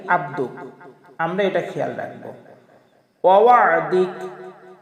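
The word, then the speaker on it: وعدك: ওয়াদিক আমরা অনেকেই পড়ি ওয়াদিক, আসলে ওয়াদিক হবে না, ওয়াদিক ওয়াদিক।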